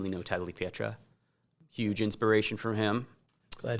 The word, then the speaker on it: Tagliapietra: Um like Lino who came here from there and big big name Lino Tagliapietra. Huge inspiration from him. Glad he said that cuz I I always mispronounce that. Tagliapietra, yeah.